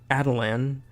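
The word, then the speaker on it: Attilan: of n humans terms previously I thought it was Attila and Gordon but apparently it's actually Adeline and Gorgon regardless what did you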